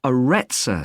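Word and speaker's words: Arretsa: It's called the Aretsa Centre. That's spelled A-R-R-E-T-S-A.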